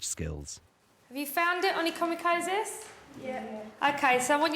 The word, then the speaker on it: onychomycosis: Have you found it, onychomycosis? Yeah. OK, so I want you to try and say that out loud now by following the instruction, the pronunciation. So, onychomycosis.